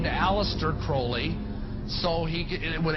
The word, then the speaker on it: Crowley: be have his name pronounced Crowley to rhyme with holy and the satanists today